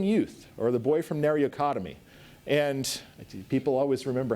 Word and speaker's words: Nariokotome: It's called the stripling youth, or the boy from Nariokotome. And people always remember how to say Nariokotome because it's pronounced like frontal lobotomy.